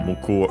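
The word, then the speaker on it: 向く: Muku, as a reminder, actually muku unaccented.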